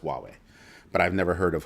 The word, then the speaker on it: Huawei: H u a wii, I think, is how they spell it. Huawei. It's pronounced Huawei, but I've never heard of Hulaway.